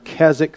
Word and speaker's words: Keswick: how many of you have heard the term Keswick theology? It's spelled K-E-S-W-I-C-K.